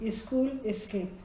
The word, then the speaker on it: SchoolScape: the name Schoolscape also, the way we pronounce it in Indian languages is school escape.